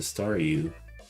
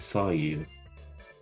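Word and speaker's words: Staryu: was still just a staru. I could never pronounce its name right. It always ended up sounding like saw you.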